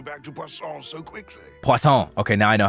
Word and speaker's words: Poisson: Poisson. Okay, now I know how to pronounce that.